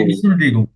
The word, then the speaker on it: Entschuldigung: শুনুন ভাই উচ্চারণটা করেন তো। ই এনশুল্ডিগুং। Entschuldigung.